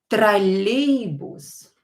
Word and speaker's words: Троллейбус: Троллейбус. Троллейбус. Троллейбус. Again, is a trolley bus. Троллейбус, or not stressed. Pronounce it as A.